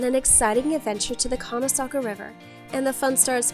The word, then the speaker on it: Conasauga: We're off on an exciting adventure to the Conasauga River, and the fun starts before we even get there.